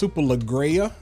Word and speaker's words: Superleggera: I think it's pronounced Superleggera because it's Italian.